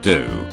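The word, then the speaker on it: ドオー: minds fun fact Claude sire's Japanese name is pronounced do fun fact number two do roughly translates to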